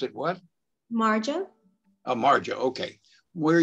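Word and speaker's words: Majo: of me m a j a and you pronounce it what marjo a marjo okay where are you from i'm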